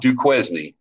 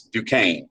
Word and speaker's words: Duquesne: That's how you pronounce that. It's not Duquesne, it's Duquesne.